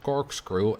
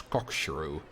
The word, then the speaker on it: corkscrew: Funny story, for quite a while I used to pronounce corkscrew as cockshrew, which is not as nice. But then I learned better and pronounced it in a bit, correctly. Instead of cockshrew.